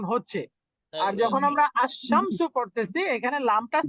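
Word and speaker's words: الشمس: দেখতেছি এখানে লামটা উচ্চারণ হচ্ছে আর যখন আমরা আশ শামসু পড়তেছি এখানে লামটা সাইলেন্ট থাকতেছে কারেক্ট লামটা তাশদি হ্যাঁ লামটা সাইলেন্ট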